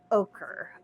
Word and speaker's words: ochre: Yeah, the other word I have trouble with is yellow ochre. Ochre. It's like the vegetable okra.